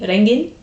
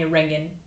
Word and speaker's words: Rengen: really like the vibe my name is pronounced I guess it depends on which language you're speaking um but uh it would be rengen but in English people call me rangan um which is fine